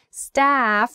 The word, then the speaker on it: staff: uh uh sound stuff staff has that wide a sound staff staff a big like so your mouth should be kind of big staff when you make